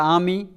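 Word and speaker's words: amie: एक ई बढ़ जाएगा, आमी, आमी, आमी, it will be pronounced exactly in the same way.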